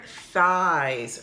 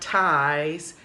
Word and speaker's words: thighs: then you have your thighs remember students not ties thighs th right they have your knees